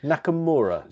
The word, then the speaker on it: Nakamura: Nakamura.